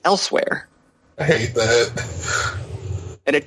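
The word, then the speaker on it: Elsweyr: But it's just pronounced Elsewhere.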